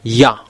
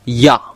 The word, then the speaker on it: Yah: It's yod and hey, it's called yah.